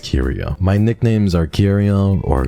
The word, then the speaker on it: Kyrio: KIRO there are some very silly people out there who think it's pronounced and for you your brain not wrinkly it's pronounced curio my nicknames are CUO